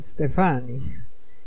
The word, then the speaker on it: Stefan: honor whoops I mean Stefan he put the emphasis on the second syllable sorry I forget sometimes